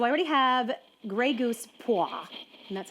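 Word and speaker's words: Poire: looked it up, and that's how you say it.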